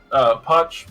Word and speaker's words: Poch: Poch rhymes with watch, as you may see.